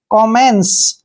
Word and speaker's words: commence: हम आधा न पढ़ते हैं और CE का उच्चारण स करेंगे। कॉमेंस, कॉमेंस होता है शुरू करना।